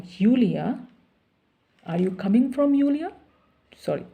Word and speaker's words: Julia: Are you coming from Julia? Sorry, Julia. Julia is a German pronunciation. J they pronounce Y. And English is J.